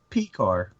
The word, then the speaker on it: Pekar: Pekar? Pekar.